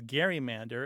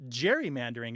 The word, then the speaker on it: gerrymander: the ways that we know that it was pronounced as Gary Mander is because a few places in the printed